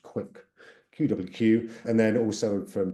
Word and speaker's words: QwQ: and it has launched qwq which probably should be pronounced quick qwq and then also